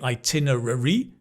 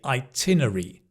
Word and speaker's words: itinerary: Often we we don't say itinerary, we say itinerary. So the rur becomes itinerary.